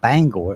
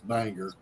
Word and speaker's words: Bangor: wrong I wouldn't say Bangor but it's not Bangor it's bagnor no I I know for a fact how it's pronounced Joey because it's Banger yeah the Kennedy came back from Maine and